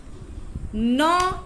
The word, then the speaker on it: gnaw: Some animals gnaw their food. गनो मत पढ़ना. G is silent.